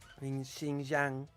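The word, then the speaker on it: Xinjiang: China is doing right with its Muslim population Shing Jang that's how you pronounce it like that's what China is doing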